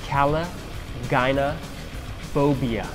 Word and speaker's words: Caligynephobia: will be wondering about for a long it's pronounced Cala gynae phobia which of course as all of you know